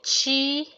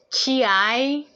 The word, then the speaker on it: 気: culture aspect, and then if you pronounce it chi, then that's from China, Chinese modality or culture or methodology.